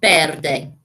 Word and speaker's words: verde: mics are yo and the v in spain is pronounced like a b so verde okay so if you